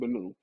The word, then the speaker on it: Min: You spell it Min, but it's pronounced Menu.